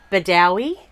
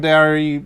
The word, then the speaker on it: Bedourie: We were heading through to Bedourie. We've heard it pronounced both and told multiple times that it's... Bedourie.